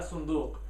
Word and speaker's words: صندوق: هذا صندوق. You have to make sure you get that Q sound at the end of it. So هذا صندوق.